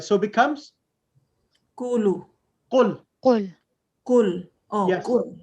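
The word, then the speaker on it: قل: You have 2 sakins together. Because now the ruling is whenever there is 2 sakins, 2 silent letters together, whenever there are 2 silent letters together, the weak letter is dropped.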